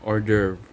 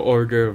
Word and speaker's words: hors d'oeuvre: So, ang pe-prepare ko po is order in French, or yun po daw yung correct pronunciation, order.